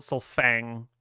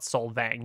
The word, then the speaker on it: Sol'Fang: It's the elves would call it Solfang. If you talk to the humans, they'll call it Solvang.